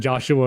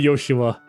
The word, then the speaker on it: Joshua: I have no idea if I should pronounce his name as Joshua or Yoshua. Because it's Yoshua in Japanese and Joshua in English. It's supposed to be Yoshua.